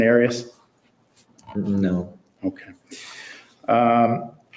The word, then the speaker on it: Arias: know her last name areas areas have you ever heard pronounced any other way other than Aries no okay um how